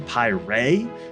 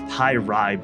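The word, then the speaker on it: Py'Rai: pi ray race revealed steven was pronouncing it on stream pi ray which is interesting because i'm pretty sure they have referred to it on stream as pi ride before however just look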